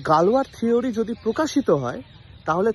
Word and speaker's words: Galois: একজন গণিতজ্ঞ যার নাম গালওয়া। স্পেলিংটা খুব অদ্ভুত ছিল, GALIOS এরকম কি একটা, বাট উচ্চারণ হতো গালওয়া বলে।